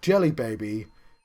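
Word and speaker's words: Djelibeybi: So, Jelly Baby is the name of Egypt in the Discworld novels, but it's spelt D-J-E and the rest of Jelly Baby.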